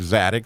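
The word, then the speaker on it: צדיק: And so when you hear that TZ sound at the beginning of the word tzaddik, that is that zaddy letter.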